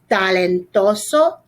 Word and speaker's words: talentoso: Talentoso, talentosa. That's a cognate. Careful with your T pronunciation. We don't want a lot of air coming out.